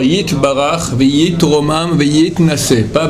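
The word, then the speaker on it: יתברך: Faudra faire attention de bien prononcer le Yud. Bakulam, Yit, c'est un Y, d'accord? Yit Barach, Veit Romam, Veit Nase, pas Veit Nase, c'est faux.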